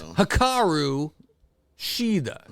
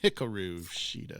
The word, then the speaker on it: Hikaru Shida: probably, and that is Hikaru Shida. See, I say try to be proper on this, Faust, instead of Ashida. Yeah, every time I want to say it like Tony Storm, Hikaru Shida.